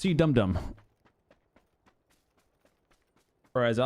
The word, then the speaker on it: CDOME: It's pronounced Cdome.